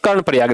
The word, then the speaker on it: कर्णप्रयाग: कर्णप्रयाग यहाँ पर कहां, ध्यान रखना, कर्णप्रयाग यहाँ पर, कर्मा नहीं कर्णप्रयाग, ध्यान रखना, कर्णप्रयाग यहाँ पर ध्यान रखना।